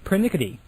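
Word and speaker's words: pernickety: the persnickety is the anglo-sized version the correct pronunciation is pernickity i did not know that that the word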